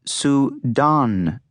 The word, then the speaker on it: Pseudonymous: It's pronounced sudonus.